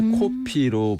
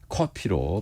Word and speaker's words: 커피: 표현하냐 하면요 1991년까지 였거든요 1986년에 문교부 고시로 이제 외래어 표기법이 공포되면서 커피는에 코피가 아니라 커피로 발음하도록 했습니다 이때 짜장면이 자장면으로 바뀌면서